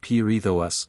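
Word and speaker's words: Perithous: Perithus and Theseus must, for the meter, be pronounced as words of 4 and 3 syllables respectively, the vowels at the end not being diphthongated, but enunciated separately, as if the words were printed pierithous, the seus.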